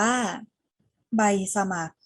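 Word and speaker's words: ใบสมัคร: ลูก สาว ต่อ มา คำ นี้ ไม่ ออก เสียง รอ เรือ ค่ะ อ่าน ว่า ใบ สมัคร ใบ สมัคร เลข 3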